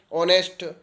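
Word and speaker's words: honest: यू के पहले आता है वहां आगे का उच्चारण नहीं होता है फॉर एग्जांपल देख लेते हैं ऑनेस्ट तो बहुत सारी जगह की उसे किया करते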